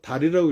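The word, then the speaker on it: dağ: 지금도 터키 말에는 DAG 그렇게 써놓고 달이라고 읽어요.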